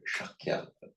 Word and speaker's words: Shakya: How do you pronounce Sakyamuni? Sakyamuni. Sakya was the name of his clan. In Sanskrit, Shakya.